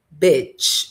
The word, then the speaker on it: bitch: Então, a primeira aqui, a pronúncia é bitch, som de E.